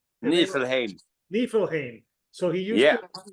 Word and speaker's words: Nifelheim: It's Nifelheim, right? Nifelheim.